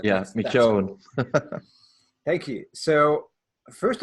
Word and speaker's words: McKeown: It's McKeown, but don't worry too much about it.